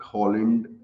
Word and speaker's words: Haaland: Holland is just the, I think, Norwegian way to pronounce his name, and Haaland is what everybody's calling him in UK and everywhere else.